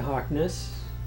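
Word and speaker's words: Hauksness: path we have done before we're going to Harkness that's how you pronounce it which is right by where we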